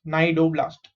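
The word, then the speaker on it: cnidoblast: C is silent, so you only pronounce from N. Ni is ni, Do is do, blast, blast, nidoblast.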